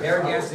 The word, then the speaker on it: Narragansett: I'm gonna slaughter this pronunciation. The god Narragansett. Narragansett Indians. Very good, Narragansett Indians.